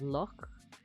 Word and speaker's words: Loch: It represents the KH sound, which occurs in Hebrew and Arabic, and the German pronunciation of Nacht, or the Scottish pronunciation of Loch, a voiceless velar fricative.